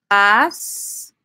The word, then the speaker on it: pastilla: it's going to have like a Y sound, like a Y. So, pastilla, and I'm writing this in the group chat for you guys, will be pronounced as pastilla.